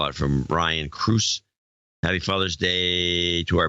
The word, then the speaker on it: Cruz: call out from Ryan Cruz. Happy Father's Day to our borderline father of the year, Tom Cruise, pronounced like the actor from Ryan, Angie, Silas, and Aubrey.